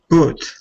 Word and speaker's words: put: Put. Not poo. So this is what's happening in your brain. You're in the habit of always saying put instead of put. So tell the habit, I'm changing you today. I'm changing you today. Yeah. Put. Put. Yeah, Put. good. As long as you're not saying ooh sound, the ooh sound, then you're good, right?